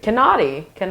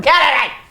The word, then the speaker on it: Kennedy: It's like Kennadi. Who's Kennadi? No, Kennedy.